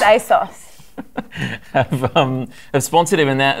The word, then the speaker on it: ASOS: rewarded for cheating because asus a sous aids us I saw it's pronounced a sauce I've sponsored him in